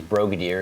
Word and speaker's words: Brogadir: it's easy to say because Brogadir is like Brigadier, if you know a Brigadier Yes. General. Just make it with an O sound.